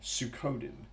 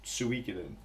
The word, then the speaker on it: Suikoden: Suika didn't a lot of people used to pronounce that one sue coded but you can I'm surprised but it's Suikoden and for years my lot would call it